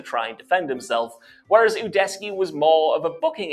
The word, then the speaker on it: Udesky: That's another mispronunciation. I don't know if it's because of this guy's weird accent or something, but you gotta do your research, dude, because it's pronounced Udesky. Not Udesky. Udesky. Like Udesky. God.